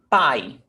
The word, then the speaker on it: pai: But one is stronger than the other. Pai. Which one do you listen sharp? A or E? Ah, A is pai. You almost don't hear E. It's very subtle.